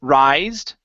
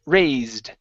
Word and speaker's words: raised: R uh right here instead of rised it's a ray raised rais raised okay watch